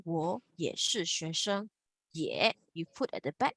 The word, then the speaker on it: 也: 我也是同事。我也是同事。Okay, can Again, this is pronounced yeah, not you.